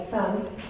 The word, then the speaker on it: sind: But the thing is that in Austrian German, E is pronounced as A. So then you have sand, and then if it's then reduced, then it will be closer to done for the sind.